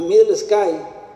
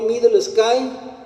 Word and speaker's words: Midlesky: Pues según la literatura, obviamente la pronunciación más aproximada que le podrían haber dado en Europa sería Johnny Middle Sky, o sea, pero eso es más en inglés. Ellos le dirían Middle Sky en inglés y en ruso sería Middle Sky. Énfasis en ambas sí por el acento ruso, obviamente.